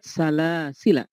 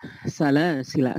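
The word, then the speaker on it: سَلَاسِلَا: Karena dia bisa dibaca dengan dua wajah. Karena bisa dibaca dengan dua wajah. Apakah dengan isbat ataukah dia menetapkan sehingga dibacanya dengan salasila, atau bisa dibaca dengan salasil, tidak dipanjangkan.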